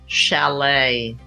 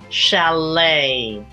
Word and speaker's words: chalet: five tricky silent letters all with that tricky silent final T is the word Chalet I stayed at a Swiss Chalet when I was in Switzerland Chalet that tea is silent